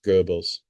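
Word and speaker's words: Goebbels: G O E B Ls Gerbles.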